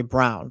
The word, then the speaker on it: Braun: And on the Nuggets, his last name, brother, your last name is Braun. That's how it's spelled. Say Braun, but they say Brown.